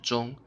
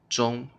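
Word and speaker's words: 钟: other word here John John okay you can see a different Chinese character here John but they have the same pronunciation Jeong Jeong and the word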